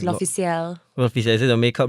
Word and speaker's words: L'Officiel: I thought it was L'Oreal, but it wasn't. No, it's L'Officiel.